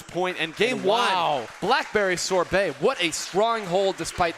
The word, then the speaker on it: Sorbet: Hey, crowd, is it Sorbet or Sorbet? Bay. Got it. Okay. There you go. Putting the Bay back in Sorbet is Kyo with that 15 KA.